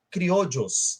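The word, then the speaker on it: criollo: nós teremos também os criodios tá se escreve com dois L escreve com dois L mas a pronúncia é criodio tá E esses criodius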